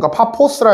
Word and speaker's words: 파푸스: 발음의 차이입니다. 알겠죠? 파푸스 아니에요? 어? 파푸스 아니에요? 제가 알기로 근데 영어로는 O만 써 있을걸요? 오가 발음 나요? 어? 그러니까 파포스라 해도 되는 거죠. 그러니까 발음의 차이인 거죠, 사실. 영국식 발음, 미국식 발음 이런 느낌.